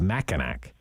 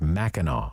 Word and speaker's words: Mackinac: it the straits of mackinac which is where uh this pipeline goes underwater it's apparently pronounced mackinac like holy mackinaw you know yeah but